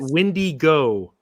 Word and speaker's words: Wendigo: So it says it was pronounced by a Choctaw elder in Philadelphia, Mississippi. He said you pronounce it Wendigo.